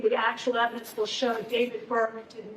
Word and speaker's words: D4VD: name is David, pronounced David, not D4VD.